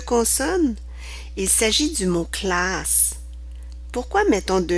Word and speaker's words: classe: Lorsque tu ne mets qu'un seul S entre deux voyelles, celui-ci se prononcera comme un Z.